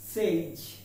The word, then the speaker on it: sage: আমরা এটাকে সেজ বলে থাকি, কিন্তু উচ্চারণটি হবে সেজ। Sage.